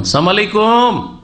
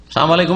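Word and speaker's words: السلام عليكم: আজকাল অনেক মূর্খ মুসলমান আসসালামু আলাইকুম বলেন লামটা উচ্চারণ করেন না সালাম আলাইকুম মানে সাম মানে মৃত্যু সাম মানে মৃত্যু মানে আপনাদের মত হোক সাম আলাইকুম মানে কি আপনাদের মত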